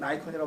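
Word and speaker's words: Nikon: 그래서 상식적으로 여러분 니콘 아시죠? 카메라에 니콘이라고 발음하나 나이콘이라고 발음하나. 영어는 일본식으로는 니콘일 거고 영어식으로는 나이콘이라고 발음하는 게 맞거든요.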